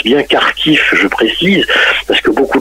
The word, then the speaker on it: Kharkiv: l'ukraine vers la ville de kharkiv parce qu'on prononce bien car tiff de précis parce que beaucoup de gens peuvent se poser la question du pourquoi vous voyez kharkov et kharkiv maintenant tout à fait car qui